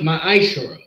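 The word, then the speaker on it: ma'aser: Malikov 38 to 10 means 10 in the Hebrew and it's pronounced my Eisler 10% of every penny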